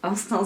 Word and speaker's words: Instinct: Donc noir basique avec le nom de la marque dessus, Instinct ou Instinct si je le prononce à la française, et le logo qui est juste derrière.